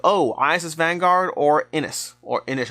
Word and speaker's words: Inis: And then I got questions in the comments like, oh, ISS Vanguard or Inis. Or Inish. I believe it's pronounced Inish. I should probably start getting that right.